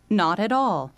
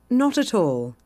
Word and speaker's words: not at all: 영어가 실제로 어떻게 들리냐 미국은 이렇죠 Not at all 맞아요 영국은 이게 아닙니다 여기 보시면 뭐라고 써 있어요 노토 이렇게요 왜요 아니 티 발음을 그대로 하니까 나로이라고 리 발음으로 이렇게 약해져서 여음이 되는게 아니고 그대로 딱 살려서 딱딱하게 not not all 이거예요 Not at all Not at all 이게 영국식 발음입니다 그래서 만약에 저쪽에서 얘기를